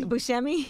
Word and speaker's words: Buscemi: How do you pronounce it, Yee? Buscemi.